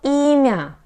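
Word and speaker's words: имя: always in stressed position emia ema here the stress is on the letter e myo emia okay and what about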